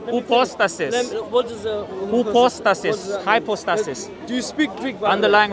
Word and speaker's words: hypostasis: Hypostasis.